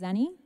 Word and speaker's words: Xani: should tell you again that my name is Annie and it's pronounced as any and I'm so just appreciative